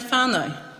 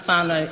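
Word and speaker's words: whānau: going to take you who pronounces whanau and correctly if it if you've got to say f-a-r-n-o to get it right sweet i mean probably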